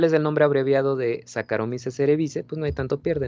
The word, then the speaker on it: Saccharomyces cerevisiae: bien recuerdo, nos decía Saccharomyces cerevisiae, ¿no? Y no. Esta terminación se pronuncia solamente E. Saccharomyces, aquí fíjense, esto se pronuncia como K. Saccharomyces cerevisiae.